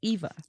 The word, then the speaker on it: Eva: to speak english but i thought it was ava because it's german wouldn't they they pronounce this it may sound like they're saying that but in an english in an english accent an american accent it's eva do you think this